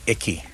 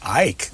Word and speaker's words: Icke: and who is David Hickey especially David Icke hike yeah look look like Hickey he could speak could